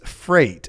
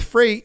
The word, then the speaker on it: Frayt: Next up is Freight, and that's spelled Frayt.